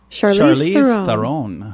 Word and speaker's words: Charlize Theron: Charlize Theron.